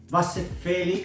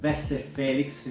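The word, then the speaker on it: Vasse Felix: for a long time vasophilic so vessel felix accordingly to the pronunciation where you're coming from is another very good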